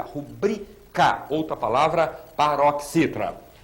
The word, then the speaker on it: rubrica: Sílaba tônica, esse si. Necropsia. Rubrica e não rúbrica. Rubrica.